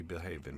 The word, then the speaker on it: Men Behaven Badly: behaving badly men be behaving badly yeah they be behaven badly so the name of the podcast is men behaven badly men behaven badly yes it's going to be pronounced behaving uh but you'll like